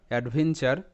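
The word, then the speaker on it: adventure: চার add when চার অ্যাডভেঞ্চার অ্যাডভেঞ্চার তো এখানেও কিন্তু টি ইউ আর ই পাশাপাশি আছে অর্থাৎ এখানে এটা চার প্যাটার্ন তো এখানে টি এর উচ্চারণটা চ এর মতো অ্যাডভেঞ্চার নেক্সট এরকম আরো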